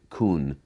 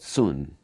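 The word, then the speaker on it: cun: Now, Westerners spell it C-U-N and sometimes refer to it as kun. Okay, but sun.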